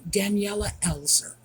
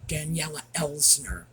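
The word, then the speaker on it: Daniela Elser: The last time I spoke about her, I butchered her name. I was calling her Daniela Elsner. And not sure why, it just somehow made more sense in my head.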